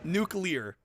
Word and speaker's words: nuclear: I thought Oh, there's no third syllable. Nuke nuclear.